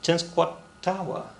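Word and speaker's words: Tenskwatawa: right now you're like that's so easy it's ten squat tawa they are going to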